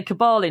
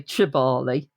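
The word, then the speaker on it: Kibale: Um when you're there, by the way, in western um Uganda, they pronounce K as a cha. So you can say Cabali National Park, which how it's spelled or you can say Chibali.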